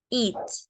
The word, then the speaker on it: eat: significa comer okay e pero la cosa es que cuando nos referimos a it podemos ver que tiene una e a pero la a no se pronuncia Okay entonces solamente pronunciamos la letra e que en inglés viene siendo la i y decimos eat Qué significa comer Okay